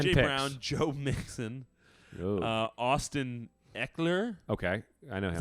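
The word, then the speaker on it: Ekeler: Brown, Joe Mixon, Austin Eckler. Okay, I know him. Is that how you pronounce that?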